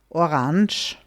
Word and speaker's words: Orange: Now, orange is actually technically the French way of saying it, and most people in Austria will say that. Maybe you could also hear something like orange. I don't want to make you repeat it because I don't think it's nice. But anyway, just so you know, orange is also something you could hear.